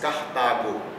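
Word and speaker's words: Carthago: Então aqui, lembrando, CH pronuncia-se como K. Então aqui nós temos Cartago.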